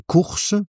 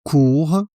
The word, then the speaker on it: courses: Et les courses, attention à la prononciation, les courses pour ne pas confondre avec court.